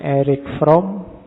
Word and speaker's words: Erich Fromm: Membacanya, kalau bahasa aslinya karena lahir di Jerman, orang Jerman membacanya Erich Fromm. Tapi nanti dia saat sukses hidupnya di Amerika. Orang Amerika membacanya lebih suka pakai Eric. Jadi belakangnya K. Makanya kita membacanya santai aja. Tidak harus kaku, harus Erich, nanti lidahmu melengker. Biasa aja dibaca Erich Fromm.